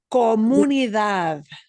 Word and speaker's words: comunidad: We're going to punch the end syllable in all of these. When you have a the word or a the word, we always punch the end more.